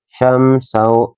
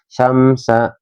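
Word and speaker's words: شَمْسًا: Syamsau ada mim sukun berteman huruf sin ya. Jadi dibacanya kita jelas ya. Syamsa syamsa enggak boleh syam syam.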